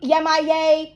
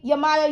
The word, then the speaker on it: Yemoja: If you were to see Oshun, Yemaye, Yemaya, Yemoja, okay, so many different ways to pronounce her name, no disrespect, my beautiful